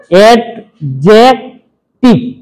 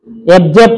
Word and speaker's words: adjective: Noun, pronoun, অ্যাডজেক্টিভ, অ্যাবজেক্ট না, অ্যাবজেক্ট হবে না, এটা হলো কি অ্যাডজেক্টিভ, বুঝে গেছে?